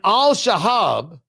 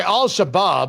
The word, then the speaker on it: al-Shabaab: back to Somalia and Al Shahab I'm sorry al-Shabaab I got to pronounce correctly the terrorist organization ended